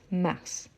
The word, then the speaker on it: mars: oui donc mars mars ici on prononce le S mars ensuite le a de